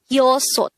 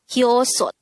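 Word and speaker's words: 여섯: Next, the native Korean version of number 6 is yosot. Again, yosot. This is composed of two syllables. The first syllable is yo, the second syllable is sot. Pronounce it with me. Yosot. Yosot.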